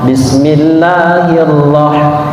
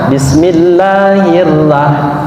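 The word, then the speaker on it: بسم الله الرحمن الرحيم: roh tebal atau kafein maka sebutannya ataupun pengucapannya harus tebal bisnis dahi Allah Bismillahirrohmanirrohim ya Jadi tidak boleh dibaca Bismillahirohmanirohim bismillahirohmanirohim much Oh ini adalah huruf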